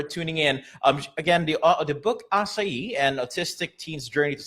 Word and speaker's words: Asayi: You pronounce the main character's name Asai, not Asai. Either way. Either way works. Asai, which is correct in terms of Japanese.